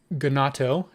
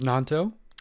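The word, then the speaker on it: Gnonto: have brought in Wilfred gonato like to apologize to uh all Leeds United fans out there and Willie himself for mispronouncing your name I know it is nonto unfortunately for the rest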